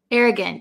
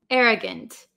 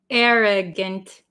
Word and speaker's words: arrogant: pronounced arrogant but um usually the last vowel in a word um we change it to like almost a short i sound if arrogant see how my mouth